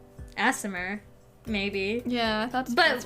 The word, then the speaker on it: Aasimar: I think she was actually a, Aasimar, maybe.